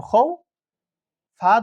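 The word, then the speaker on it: خوف: তাহলে এটা বাইত এভাবে উচ্চারণ হবে। এটা দেখি খ ওয়াও জবর খৌ, ফা ২ জের ফিন, খৌফিন।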